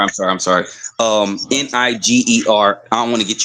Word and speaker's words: Niger: So I know you guys probably thinking uh that word is pronounced that word is pronounced Niger.